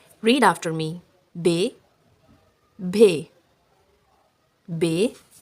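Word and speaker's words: ب: The simple B sound is pronounced soft and quick, but the sound bhay is pronounced with extra air.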